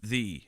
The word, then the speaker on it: Ye: Ye is still pronounced thee. They use the Y to represent the TH.